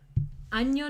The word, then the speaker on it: año: Yes, please never say ano because that means anus.